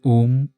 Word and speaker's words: ওম: ওম শব্দটি কোনো ধর্মে আমিন হয়ে গেছে, কোনো ধর্মে ওম, কেউ ওং, বিভিন্ন রকমভাবে উচ্চারণ করেন। আসলে এটি ৩টে শব্দের সমন্বয়, আ, উ আর উম।